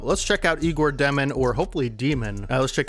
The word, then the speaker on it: Demin: But I do want to listen to a highlight or two just to get the pronunciation of his name, and then we'll jump into it. Okay, so it is Demin, and we're going to watch this play I just watched.